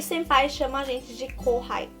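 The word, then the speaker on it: 先輩: Você não pode falar senpai, sem sotaque de brasileiro. Então, quando você vai chamar, você tem que falar senpai. Tem o senpai, tá? Senpai. Não é senpai, é senpai, tá?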